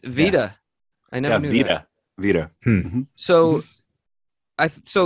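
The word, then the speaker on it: Wieder: capacity before taglia became carlos wyder or vedir i don't know how to pronounce it depends on where the e is i'd have to look um i forgot you speak german don't you yeah so it's veda i know so i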